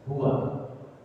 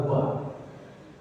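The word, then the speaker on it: هو: Huwallahul ladzi la ilaha illa huwa. Nah, hanya saja ketika dibaca, wow, jadi sukunkan menjadi hu, boleh. Ya, yang dimaksud adalah huwa. Tetapi itu tadi dalam praktik bacanya harus dibacakan hu, boleh.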